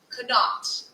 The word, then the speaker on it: Connaught: Connaught.